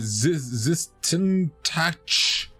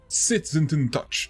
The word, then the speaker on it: SsethTzeentach: of World's Tallest Leprechaun Hat very enjoyed the SsethTzeentach. There we go. Said it right this time. And said check out Evenicle review, Wholesome edition, trademarked by SsethTzeentach. So let's check it out. SsethTzeentach.